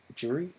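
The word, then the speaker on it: Jeri: Jury? It's pronounced Jerry in the...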